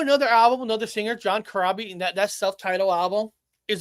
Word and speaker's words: Corabi: John Corabi.